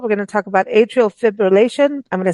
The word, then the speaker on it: atrial fibrillation: Atrial Fibrillation Awareness Month. Did I pronounce that okay?